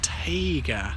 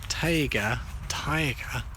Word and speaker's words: Taiga: This is actually taiga, or taiga. Taiga, I think it's pronounced. It doesn't mean tiger, it's taiga. T-A-I-G-A.